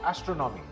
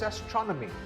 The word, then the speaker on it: astronomy: This word is not astronomy. This word is astronomy. The second syllable is stressed.